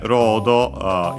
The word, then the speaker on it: ロード: Can also be, because as we have seen, Japanese doesn't strictly have L, the L sound. But technically, L sound is a variant of Japanese R, although most would pronounce that as R, as a top flap. But yeah, either way, it's the closest consonant, so yeah, that's why it becomes that.